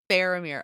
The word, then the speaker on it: Faramir: their leader is okay how how do we pronounce I'm not sure what type of a sound faramir faramir okay I was going to say that wrong so faramir good to know heartrob of Middle Earth